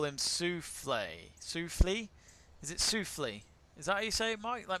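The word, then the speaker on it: Schauffele: Ziggy says Shuffle uh shaa says no French accent on E so sule is it sule sule sule sule is that how you say it I'm starting to like shuly shuly yeah shuly I think you're right I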